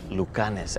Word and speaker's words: Lucanis: Is it pronounced Lucanis? Yes, exactly. It's Lucanis.